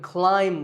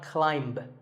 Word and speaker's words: climb: so plumber in fact in many words when you have the letter combination m B the B is silent if I had a ladder in front of me now I could climb the ladder not climb a quick note in the pronunciation symbols that you see on the screen the AI is an i sound not an a sound so the word is Climb by the way what's